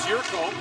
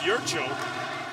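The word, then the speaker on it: Jurčo: Which Thomas Jurko of the Detroit Red Wings would say, why you do that for me? It's Jurcho in Slovak.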